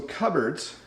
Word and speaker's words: cupboards: we have cupboards so cupboards notice it's not pronounced the way it looks in a cupboard you'll